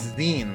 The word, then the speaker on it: zine: Oh, I'm mispronouncing this entirely. It's Zen, like magazine.